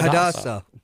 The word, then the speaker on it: Hadassah: Yeah, Hadassah.